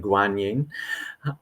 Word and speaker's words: Guanyin: And so, kanon in Japanese, some English speakers are more familiar with the Chinese pronunciation guanyin, um, but this is considered the embodiment of compassion.